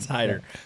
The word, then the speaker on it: Hayter: where are you yeah it's spelled h-a-y-t-e-r and so just the the a silent okay so it's it's Hider yeah first glance is